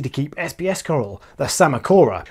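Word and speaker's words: Psammocora: keep SBS coral the sama Cora which unlike a drunk man outside a kebab house has a silent P this encrusting corals in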